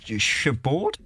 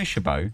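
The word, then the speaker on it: Chabaud: it sort it sort how do you spell it c h a b a u d shab okay shab shab shab it it sort of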